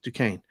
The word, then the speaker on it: Duquesne: There's a lot of people that can't say Duquesne either. It's spelled Duquesne. I've heard Duquesne in the books for years. It's Duquesne. Duquesne Dukes.